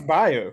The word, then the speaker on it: Bayou: it's bio. I think I think that's how you say it in Mississippi. Okay, well, let's go with that. Let's go with bio.